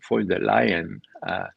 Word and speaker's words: von der Leyen: It's really, I mean, how the EU was reduced to the likes of Ursula von der Leyen. Von der Leyen is the way you pronounce it in Germany.